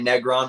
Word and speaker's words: Negron: So yeah, most Americans say Negron, which I don't mind, but you got it right with the that's the traditional the right way from my heritage's perspective.